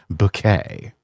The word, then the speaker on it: Bucket: uh, the character highest bouquet, always pronouncing it bouquet, even though it's spelled bucket. And you've got god welcoming her to the pearly gates and saying, "Welcome, Mrs. Bucket." It's bouquet.